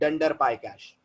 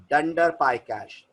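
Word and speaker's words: __pycache__: underscore लग जाता है तो आज से यह वर्ड छोड़कर अंडरस्कोर अंडरस्कोर ना बुलाकर अपन बुलाएंगे ंडर पाय कैश सो the name of the folder will be pronounced S ंडर पाय कैश ये पाइथन का इंग्लिश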